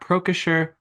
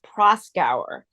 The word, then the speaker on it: Proskauer: She has held past positions as counsel of Reed Smith LLP and a special employment law counsel at Procasher Rose LLP.